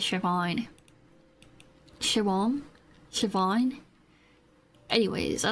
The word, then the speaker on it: Siobhan: I've been listening to a lot of music from Siobhan. Siobhan. Is that am I saying it right? I think it is Siobhan.